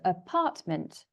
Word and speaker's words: apartment: It has 3 syllables, apartment, and the stress, so where the voice goes up, is on the 2nd syllable. So apartment.